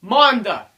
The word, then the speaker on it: Manda: guys, final review, and today we're doing the F plus 30 centimeter Manda. That's right, that's how you pronounce it.